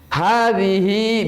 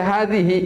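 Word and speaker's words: هذه: Ah, hadhihi bidha'atuna. Tapi kalau misalnya kita tiba-tiba berhenti di hadhihi, bagaimana bacanya? Hadhi. Haknya disukun. Jangan dibaca hadhihi, enggak. Hadhi.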